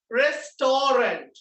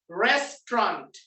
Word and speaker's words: restaurant: No, this is not restaurant. This is not restaurant. Make a restaurant කියන්නෙත් නෑ. මෙයා restaurant කියන්නෙත් නෑ. This is pronounced as restaurant.